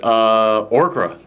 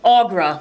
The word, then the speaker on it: Aughra: guess I should say, is Orkra. Oh, is that how it's pronounced? Who? The witch. Oh, Aughra. Aughra. Yes. I was very close.